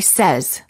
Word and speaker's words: says: The verb say is pronounced with an S sound in the past tense and in the present tense when it is followed by an S.